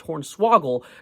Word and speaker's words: hornswoggle: I was filled with joy, whimsy, and a tad of hornswoggledness, which I recently learned is pronounced hornswoggle, not swaggle.